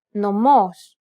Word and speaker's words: νομός: This accent just indicates that you need to stress the syllable. That's it. Κάλος, καλός. Νόμος, νομός. Θέα, θεά. Notice how the accented syllables are emphasized? It's pronounced a little bit louder and longer than the surrounding syllables.